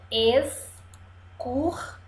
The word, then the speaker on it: excursão: s escuro são esses excursão três sílabas e o som de s o x está com som de s máximo máximo máximo um